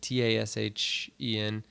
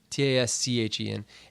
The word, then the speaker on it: Taschen: They do, like, I think that's how you say it, Tashen. Taschen.